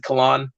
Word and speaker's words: Kalan: And then like the name Kalan, it looks like Callan, but I pronounce it Kalan because I don't like bright sounds.